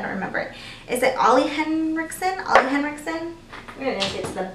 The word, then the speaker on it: Ole Henriksen: Is it Ollie Henriksen? We're gonna get to the bottom of this. It's pronounced Ole Henriksen.